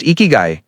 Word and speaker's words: Ikigai: The word ikiguai, pronounced ikiguy, comes from Japan, and it means something beautiful.